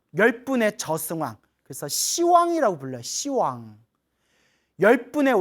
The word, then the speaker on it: 시왕: 그래서 불교에서는 10이라는 발음이 나오면 발음을 부드럽게 시라고 표현하는 거예요.